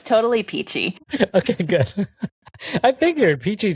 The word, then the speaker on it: Pichi: says it's qualia saying never knew it's pronounced peachy and not pichy am I mispronouncing this no it's totally peachy okay good I think